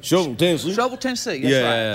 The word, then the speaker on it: Shelbyville: We made it in this wonderful small town called, well, we know it as Shelbyville, Tennessee, but actually the locals in Shelbyville pronounce it like a shovel. It's like... Shovel, Tennessee.